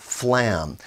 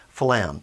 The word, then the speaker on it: flam: getting get two sounds notice even the word phalam there's actually two sounds flame so it's not just a one syllable it's actually kind of two syllables phlegm phlegm phlegm now